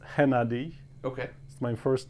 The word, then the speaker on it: Hennady: So, how American people say it, it's Hennady. Okay. My first name, how they say it in Ukraine is Hennady. Okay. Not H, but H. It's okay. Like different sound.